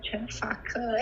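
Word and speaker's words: Chen Fake: Here in Brazil, it's a little bit difficult because people see the word Chenfaka and they think fake because there's lots of talk about fake news here in Brazil right now.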